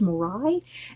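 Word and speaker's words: moroi: I looked up her pronunciation guide, how to pronounce that, and that's kind of how it sounded like to my ears, morai.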